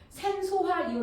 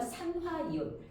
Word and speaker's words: 산화이온: 이때 우리는 소자로 끝나는 애는 소를 지워야 돼요. 그래서 뭐라고 읽어요? 염화이온. 산소화이온 아니고요. 산화이온. 이런 식으로 해서 소자는 지워주셔야 돼요. 자, 그러면 주로 음이온으로 되는 아이들이 모든 비금속이 아니지만 대다수 무슨 원소가 얘들아?